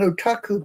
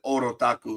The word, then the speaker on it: otaku: See, I'm classified as an otaku because of all of this. I'm sorry, what was that pronunciation? Otaku. Oh, I just said orotaku. And oh my God, I knew I got it wrong.